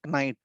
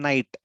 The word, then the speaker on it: knight: pronounced as knight okay k is silent k is silent we don't pronounce it okay i am not calling it okay tonight i am not saying tonight i am saying night night okay however its spelling